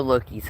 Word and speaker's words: Loki: dinner, because I know Loki's hungry. And for those of you who are not familiar with the pronunciation, I am saying Loki, L-O-K-I. Like, Thor's adopted brother.